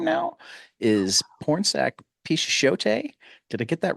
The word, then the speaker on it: Pichetshote: Pornsak Pichetshote. Did I get that right this time? Pichetshote. Pichetshote. That's right. Yes. I always want to pronounce the E.